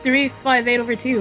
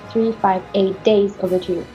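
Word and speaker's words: 358/2 Days: I thought it was 358 over two that's all I say okay here's the right way to say it at least according to namura Kingdom Hearts 358 days over two days over two yeah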